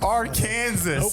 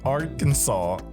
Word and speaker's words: Arkansas: Um we can ignore whatever he's our Kansas. It did not happen. George thought Arkansas was pronounced R. Kansas.